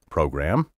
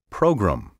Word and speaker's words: program: Throughout the Verbal Advantage program, have you noticed how I've been pronouncing the word program? Many speakers today slur the gram and say program. Current dictionaries now countenance this slurred pronunciation, so I can't say